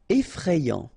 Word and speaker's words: effrayant: Effrayant. Okay, so final T not pronounced, and then you get effrayant. Okay, effrayant.